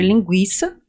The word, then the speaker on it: linguiça: para nos indicar que quando há o trema, eu devo dizer linguiça, guiça. Sim. Diferentemente de Guilherme. Guilherme não fala Guilherme. O trema estava ali para indicar que eu deveria pronunciar esse ui.